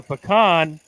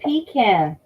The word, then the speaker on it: pecan: there we go again we say pecan you say it wrong texas is the pecan cap they say it wrong in georgia too they say pecan uh texas is the pecan capital of the united states so we definitely know how to say it so that's what